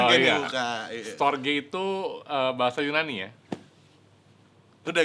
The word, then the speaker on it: storge: Bacanya storge bukan starch. bukan stoge juga bukan.